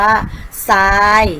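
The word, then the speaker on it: ทราย: มา คือ คำ ว่า ซาย ต้น ไทร และ พุทรา อินทรีย์ และ ทรัพย์ ค่ะ เห็น ไหม คะ จะ ออก เสียง เป็น ส โซ่ ทั้ง หมด เลย นะ คะ เรา ไม่ ออก เสียง ทร ค่ะ อ่ะ ก็ จะ ไป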